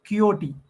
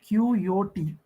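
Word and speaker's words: Quixote: work is Don kot so you have to pronounce it like kot qot qot so don qot it's a picor SQ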